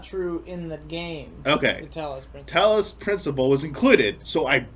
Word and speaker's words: Tallis: again Ian's because the Tallis principal so I found out it's not it's not Talos it's Tallis apparently that's how you pronounce it I was just